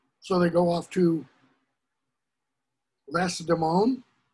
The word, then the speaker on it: Lacedaemon: So they go off to Lacedaemon, I believe is how it's pronounced. Lacedaemon.